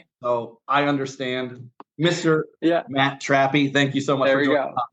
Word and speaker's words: Trappe: yeah there's so I I've gotta correct you on my name too it's trappy I was it's totally